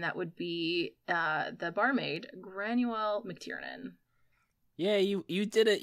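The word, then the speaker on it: Granuaile: And that would be the barmaid, Granuel McTiernan. Yeah, you did it. You pronounced it.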